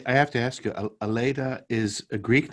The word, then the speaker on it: Aleta: that's where they got it and some people pronounce it elita but i think because my parents considered it a greek origin they had they always pronounced it elena what a great name for a judge yeah